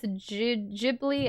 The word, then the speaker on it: Ghibli: I think technically both Jibli and Gibli are right. The hard G I think in English though because it comes from an Italian word, but I think in Japanese they use a J.